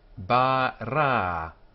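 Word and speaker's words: בָּרָא: Ba-ra, ba-ra, two long a sounds, two syllable word, ba-ra, he created. Three letters here, b, R, and the Aleph on the end, which is silent here. Bara. There are two vowel sounds, both like the A sound.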